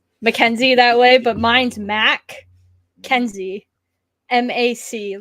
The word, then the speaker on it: MacKenzie: No offense to anybody that spells Mackenzie that way, but mine's Mac Kenzie. MAC, like the Big Mac from McDonald's. Kenzie. But you pronounce him Mackenzie, though. Yeah. Kenzie. Mackenzie. Yeah.